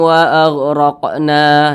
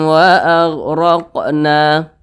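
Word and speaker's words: وَأَغْرَقْنَا: berdengung faanjainakum wa agqna huruf qf qfnya ini sukun perhatikan di samping huruf qf termasuk salah satu huruf Qalqalah ya jadi apabila dia sukun maka dipantulkan jadi dibaca waagqna waagqna memantul seperti itu nah kemudian di sini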